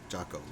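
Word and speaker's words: Giaco: It's spelled G as in George. G I A C O. Jaco. Like Italian.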